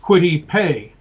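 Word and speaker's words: Kwity Paye: think about it so it you know it's pronounced quit IPE and I just write that in phonetically as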